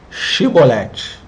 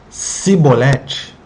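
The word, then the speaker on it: shibboleth: os fugitivos de efraim pronunciassem a palavra shiboleth o shiboleth e quem pronunciasse corretamente atravessaria porque eles saberiam que não eram da tribo de efraim mas quem pronunciasse simolete com som de s e eles matavam a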